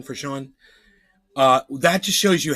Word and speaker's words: Sean: or the other no Brandon lmfa go Brandon Sean AKA trendiorka cheers what's up buddy it's my favorite Sean with a w ow all right so you know s-e-a-n spelling for Sean uh that just shows you how much denial